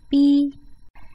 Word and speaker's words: 币: Again, the initial 波 and a final 一 get you to the syllable 币, and it's on the fourth tone 币, 币, 币, 币, 币.